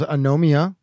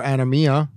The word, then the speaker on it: Anomia: So once again, that was Anomia or Anomia, depending on where you put the accent.